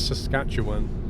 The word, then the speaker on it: Saskatchewan: I think it's Saskatchewan, is how you say it.